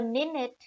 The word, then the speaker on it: Minute: The minute is die Minute, plural die Minuten. Written just like the English minute word, but pronounced differently.